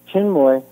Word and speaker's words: Chinmoy: Chinmoy, yeah, like Chin with a moy at the end, yeah.